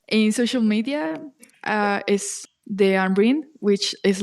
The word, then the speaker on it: Deanryn: by your name a social media uh is De ambrin which is like a short for my full